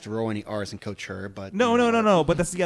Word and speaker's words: Couture: I'm trying to say the T right. I know I do it wrong. It's impossible for me to do. Well, first of all, do you pronounce the T right? Couture.